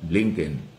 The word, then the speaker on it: Blinken: na si Anthony Blinken, Blinken, tama ba? Ano ba ang tamang pronunciation niyan? Blinken. O yan, okay? Maganda po yung usapan kahapon. Siyempre, hindi lang si Secretary Blinken ang dumating, yung US